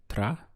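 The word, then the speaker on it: trabajar: verb to work trahar we have again three syllables trahar trahar is to work how would you say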